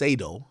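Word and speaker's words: Sadow: strategic hire so Stephen sedo well I call him SED but it's sedo okay by the way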